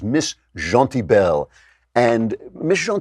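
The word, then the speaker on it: Miss Gentilbelle: a story I believe the way to pronounce this is Miss Jean T bell and Miss Jean T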